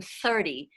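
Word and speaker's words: thirty: And then there's a non-vocalized TH, which is just sort of a breath, which is the TH in 30.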